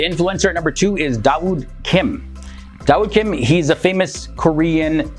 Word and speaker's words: Dawood: he changed his name to dawood Kim and dawood is the Arabic pronunciation of the name David when it comes